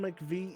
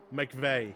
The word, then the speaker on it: McVeigh: Brandon McVie is still on his run, and... Oh, yeah, but what's Brandon McVeigh doing? Was joke Julian? Oh, yeah, I mispronounced it. Yeah. God damn it. McVeigh.